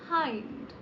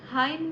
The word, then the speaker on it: hind: Pronunciation is, excuse me, the pronunciation is हाइंड. हाइंड. Okay, 4 options हैं: four, anterior, ventral and rear. Four, anterior, ventral and rear. And the right answer is rear. hind मतलब पीछे, backwards.